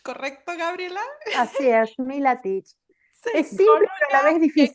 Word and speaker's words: Milatich: Hoy tenemos el enorme placer de tener a Gabriela Milatich, ¿correcto, Gabriela? Así es, Milatich.